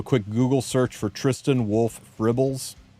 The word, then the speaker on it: Fribbles: If you do a quick Google search for TristenWulf Fribbles, spelled like dribble but with an F.